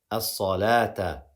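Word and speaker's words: الصلاة: So here we're going to say as-salah, as-salata, as-salata with an alif and not pronounce the waw at all.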